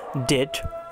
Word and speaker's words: debt: DEBT, ডেট ঋণ। তারপরে DOUBTFUL, doubtful মানে সন্দিহান। শব্দের শেষে QUE এর উচ্চারণ কয়ের মতো হয়, আমরা দেখে নেই।